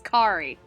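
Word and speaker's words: Kari: you pronounce her name she herself has said it's qari as in ferrari that's how you remember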